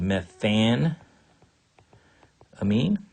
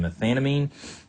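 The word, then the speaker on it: methanamine: below here in red it would be called meth an amine so just need to be familiar with those two pronunciations methylamine and methane amine I rarely hear people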